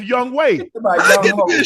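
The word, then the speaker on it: Yonghoe: That's the way it's pronounced Young Way.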